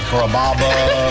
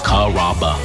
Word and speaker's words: Carrabba: Growing up, people always had a hard time pronouncing my name. People chop it up pretty good. You know, Carrabba, Carababa, Caramba. It's a really easy name to pronounce. It's Carrabba.